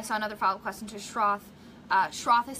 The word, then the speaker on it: Schroth: um and I saw another file question two Schroth Schroth is spelt it's a German word SCH R o